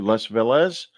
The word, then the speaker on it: Les Velez: We're talking to Les Velez. Am I pronouncing your name correctly, Les?